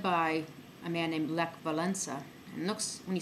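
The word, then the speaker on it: Wałęsa: And it was led by a man named Lech Walesa. And it looks, when you spell it, it's Walesa, but you don't pronounce that as Walesa. It sounds more like an N in there, Walesa.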